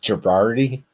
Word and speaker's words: Gherardi: have uh luke girardi here so how you pronounce it girardi yeah that's correct yes luke girardi with me i know it's a really tough